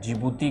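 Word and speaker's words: Djibouti: जिबती आपका जो जिबूती की स्पेलिंग किससे है? डी से। डी से है।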